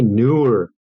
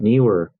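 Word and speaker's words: Neewer: were and me were keep saying it wrong you say newer it's not new earth knee were so many youtubers say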